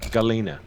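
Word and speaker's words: Galyna: of that um her name is uh um galena g-a-l-y-n-a um she tells you you must wear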